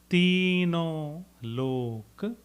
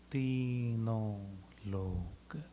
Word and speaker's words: तीनों लोक: Tino lok. Tino lok. There's a tino, there's a M after that.